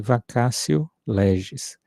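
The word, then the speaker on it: vacatio legis: de vacacio leges vacacio mas é escrita em em latim né vacatio lees né até coloquei aqui no chat né eh mas eh pronuncia-se vaco lees eh Então ela já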